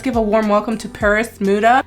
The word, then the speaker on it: PerisModa: a warm welcome to Paris muda it kind of sounds like Paris but it's not spelled that way I'm gonna pronounce it the way that it's spelled Paris muda so what I have